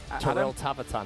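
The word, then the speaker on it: Torilla tavataan: So I've just been told what Torilla, or I've not pronounced that right. What's it? Toril Tavatan. Toril, yeah, Tavatan.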